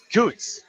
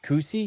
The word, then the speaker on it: Coots: Coots. Daniel Coots. Rhymes with boots, and it was his dad who came and told me that. Okay, that's not the guy. Who's the guy who won the event? Cootsy?